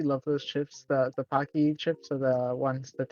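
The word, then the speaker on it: Paqui: Uh, a uh the I don't know how to pronounce this, but it's spelled P A Q UI. I think that's the brand of chip. It's Pocky. Pocky, thank you.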